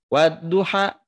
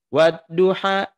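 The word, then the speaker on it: وَالضُّحَىٰ: Nah, fathah berdiri ini ya tetap hukumnya itu adalah dibaca 2 harokat. Ya. Maka Ini tidak dibaca satu harokat, seperti ini dibacanya Bu. Wadduha, tidak begitu. Tidak begini. Wadduha wallaili idza saja ma wadda'aka rabbuka wa ma qala. Tidak begitu. Tapi dua harokat di ayun ujungnya.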